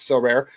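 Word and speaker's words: Sorare: Definitely want to spend some money and some time on our newest sponsor, So Rare, that is pronounced So Rare.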